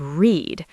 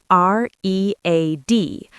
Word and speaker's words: read: But, in the past tense, we say read, which sounds exactly like the color red.